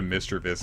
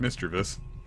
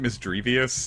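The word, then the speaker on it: Misdreavus: Yeah, it's like Mischievous, but Mischievous. I used to pronounce it Misdrevious, and then I think I heard it as Mischievous in the anime, and I changed it over.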